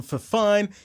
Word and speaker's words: Fifine: us the t669 from for fine yeah it rhymes they've sent us that